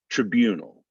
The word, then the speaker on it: tribunal: l vigilant vigilant vigilant tribunal the second syllable is stressed so we're not even really gonna get that i sound in there all so it's gonna sound like tribunal tribunal that's a good